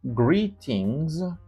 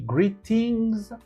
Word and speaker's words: greetings: voyelles qui sont prononcés, le T se prononce broken D. C'est comme un D cassé. On appelle ça aussi les flap. dit greetings. Vous dites greetings. Greetings greetings wonderful.